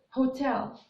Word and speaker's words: hotel: one the first word hotel the first word is hotel so this the H is not silent it has a consonant